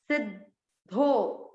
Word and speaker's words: सिद्धो: आधे द को सी के साथ पढ़ा, सिद्धो, सिद्धो।